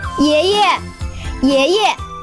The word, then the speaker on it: 爷爷: 爷 second tone, but the second 爷 will be pronounced as a neutral tone. 爷爷 I never knew that you can play basketball so well.